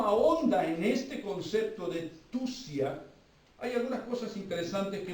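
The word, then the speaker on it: θυσία: Esta palabra, mire, se pronuncia tusia, pero quiere decir o significa literalmente matar con propósito.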